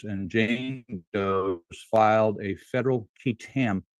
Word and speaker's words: qui tam: Do filed a federal kit lawsuit. It's spelled qui tam under the false claims act on behalf of the American people.